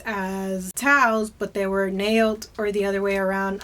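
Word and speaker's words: Naot: Here's another comfort shoe brand similar to Towels, but this one is called Nailed. I think I'm saying it correctly. I used to say nout, but it's nailed.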